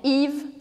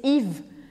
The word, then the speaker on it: Yves: Presta atenção que esse Yves termina com ES, mas eu não pronuncio nem o E nem o S no final. Eu só vou falar o Y e o V.